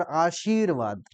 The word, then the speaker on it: आशीर्वाद: तो बोल जाते हैं जबकि आशीर्वाद उस पे दबाव डाल के सी दबाव आशीर्वाद है ना तो ऐसे उच्चारण